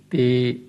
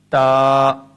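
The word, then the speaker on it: تاء: For example, do not pronounce them at all as be, te, se, he, khe, toin, zoin. Instead, pronounce them in the following way: ba, ta, sa, ha, kha, ta, za.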